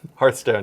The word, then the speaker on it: Hearthstone: Which is, I want to say it right, Hearthstone? Hearthstone, yes. Yes. Not Hearth.